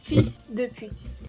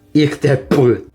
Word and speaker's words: fils de pute: Pero si quieres una cosa muy mala es fils de pute. Fils de pute. Oh, ok, sí, como puta, ¿no? Hijo de puta. Sí, sí, ich de Es put. muy común. Ich de put.